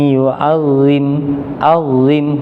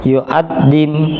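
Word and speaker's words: يعظم: Dzalika wa may yu'azzim huruf dha. Tadi saya mendengarnya dha-nya terlalu kuat. sehingga menyerupai huruf dal. Yu'addim.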